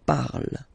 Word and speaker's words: parle: put the ending e, and then the way to pronounce it is je parle, parle. So remember, we put it, okay, but then we don't really pronounce it.